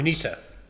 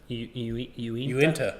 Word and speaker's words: Uinta: I have a Utah brewery that I have no idea how to pronounce. Uinta. Uinta?